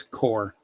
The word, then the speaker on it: corps: my past but H it's core P silent silent P yeah oh okay my